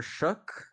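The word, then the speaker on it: Shough: The Saints started Tyler Shook. I think that's how you pronounce his name actually, Yeah, with the K at the end.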